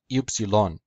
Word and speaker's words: Upsilon: the Greek cow epsilen in classical Greek is pronounced Upsilon just like in Koine Greek in modern Greek is pronounced FC lung without the second accent the name Upsilon might